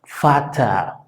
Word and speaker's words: Vater: La letra V, que se llama V en alemán, se pronuncia claro y fuerte, prácticamente como si fuera una F. Entonces se dice, por ejemplo, Vater, Vater, que por cierto es la palabra padre, Vater.